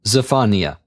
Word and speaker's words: Zephaniah: Now we turn to the book of Zephaniah, or as I will pronounce his name, Zephaniah.